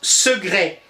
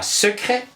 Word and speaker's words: secret: Le C se prononce quelquefois comme un G, ainsi on prononce secret et non pas secret, second et non pas second, glaude et non pas claude, quoique dans l'écriture on doit absolument retenir le C.